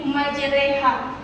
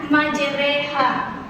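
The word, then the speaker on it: مجراها: Ayat ini dibaca imalah miring, yaitu menjadi majreha. Bisa ikuti bacanya majreha.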